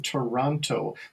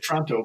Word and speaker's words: Toronto: You sort of butcher that first, just like people from Milwaukee say Milwaukee. We just we get rid of that. I never noticed that about. It's very interesting. We just sort of get rid of that first syllable. We just sort of slur it like we're drunk. And yeah, it's true. It's very true. And Toronto because you're just tired of that syllable. You're just tired of it.